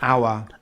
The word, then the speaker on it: hour: Usually words that start with the silent H are French borrowed words such as honest, Honest. hour, Hour. honor. Honor.